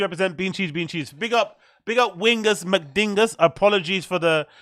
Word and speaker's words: Wingus McDingus: Stop mispronouncing my name as Wingus Dingus. It's Wingus McDingus.